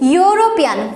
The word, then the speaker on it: European: See here, the first rule is the words begin with vowels and pronounced as you.